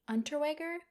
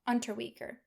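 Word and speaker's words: Unterweger: I'm so sorry I'm going to mispronounce it Jack underwear let's see if we can get somebody to pronounce it for us under weaker I was close he had actually already been convicted of murder in 1974.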